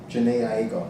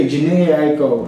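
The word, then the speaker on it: Jhené Aiko: Janae Aiko. Yeah, Janae Aiko.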